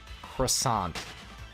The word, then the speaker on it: croissant: like including Mrs Chinese they all pronounce it like how a French person would and I'm like you guys are not even French Canadian grow up grow up it is a croissant we live in North America it's not a